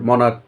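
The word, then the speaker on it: monarch: কিন্তু এই যে এখানে আছে মনার্ক, শেষে সিএইচ আছে কিন্তু উচ্চারণটা কিন্তু চয়ের মতো নয়, কয়ের মতো, সুতরাং এখানে এ যুক্ত হবে, মনার্ক।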